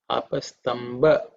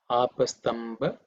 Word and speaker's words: Apastamba: Sometimes we use P instead of B. Okay, Apastamba. Okay, Tamba Sutraya.